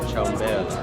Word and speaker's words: ciambella: La ciambella.